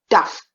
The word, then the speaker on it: tough: T-O-U-G-H is tough. It rhymes with the word puff.